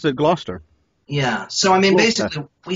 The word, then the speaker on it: Gloucester: over in Gloucester Massachusetts did I say glouster right no no they say glau Chester know how they say it is a blaster blaster ok and slice the mass in books that's why I get the Boston books cuz they say Gloucester blaster yea though I've always